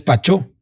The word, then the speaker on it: Pacho: está cagadísima de del Paris Saint-Germain, pues es Pachó. Pachó Pacho. Sí. Y entonces allá empezó que Pachó Pachó.